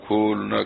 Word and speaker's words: کھلنا: کا ایک شہر ہے، ہم لوگ تو وہاں کھلنا کہتے ہیں، آپ لوگ کھولنا کہتے ہیں، تو بہرحال اب کس تلفظ سے کہوں، تو شہر کھلنا جو